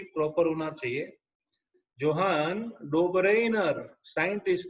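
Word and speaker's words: Johann Döbereiner: तो बच्चों पहली बार याद रखना 1800 एडी में पहली बार जॉन डोबरेनर, प्रोनाउंसिएशन भी प्रॉपर होना चाहिए, जोहान डोबरेनर साइंटिस्ट ने 1800 की साल में पहली बार सोचा था कि we should classify the element.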